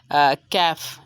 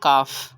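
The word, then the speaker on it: calf: Second example है कैफ या काफ, इसकी करेक्ट प्रोनाउंसिएशन तो कैफ मानी जाती है।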